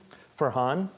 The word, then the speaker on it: Farhan: can you can see that in our debates forhan keshi it's online forhan his name is Farhan f a r han